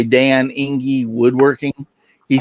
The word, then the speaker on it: Enge: Dan, E-N-G-E. I pronounce that Inge.